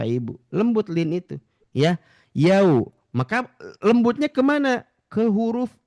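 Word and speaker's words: يوم: Yau itu pengucapannya ya bibirnya dikedepankan.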